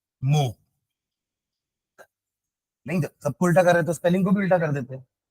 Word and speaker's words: mho: पर ओम या ohm inverse, या आप इसको ऐसे भी बना सकते हो, ओम को उल्टा कर दिए, या फिर स्पेलिंग को भी उल्टा कर लो, MHO, मो।